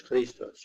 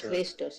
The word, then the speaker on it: Christos: The accent on is Christos instead of on Christos. The first syllable instead of the second one.